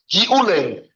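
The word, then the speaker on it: גיעולי: What about swallowing from How do you say the word? giule? Gimel ayin with an ayin. Giule, gimel yud ayin, lamed yud. Giule, gimel yud ayin, giule, vov lamed yud.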